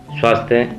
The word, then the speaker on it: स्वास्थ्य: बताया ना जैसे कि स के बाद व्यंजन आया तो उसका उच्चारण उ हो जाता है। जैसे स्वास्थ्य, स्वभाव, स्वर्ग, स्वार्थ, जबकि